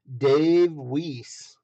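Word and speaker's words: Weise: hot wheels design piece dave wiese where is it weiss it's w-e-i-s-e so it depends on the pronunciation of course uh but there you go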